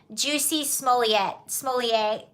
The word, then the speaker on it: Jussie Smollett: It's like, have Jussie Smollett.